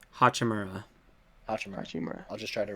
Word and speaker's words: Hachimura: and Rui Hachimura, the wizard guy.